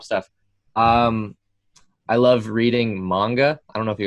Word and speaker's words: manga: looks like it's manga it's actually pronounced manga in japanese that's one of the